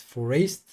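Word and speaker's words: Foreest: Yeah, it should have rhymed with waste, but I don't know how to pronounce that. Forest.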